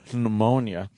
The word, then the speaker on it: pneumonia: He got a secondary infection, turned into pneumonia. Yeah, I say pneumonia, too. Pneumonia. You got to pronounce that That's P. like Django. Django and pneumonia.